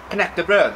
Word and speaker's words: knäckebröd: And even more so, knäckebröd.